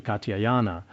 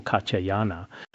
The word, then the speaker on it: Katyayana: He addressed him as venerable Katyayana. Sometimes I pronounce it ga and sometimes jia. In Tibetan, the sounds ga and jia are very similar. It is like gada gada gara or gata.